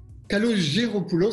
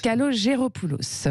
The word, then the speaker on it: Kalogeropoulos: Je prononce bien votre nom? Kalogéropoulos serait plus exact. Kalogéropoulos, voilà.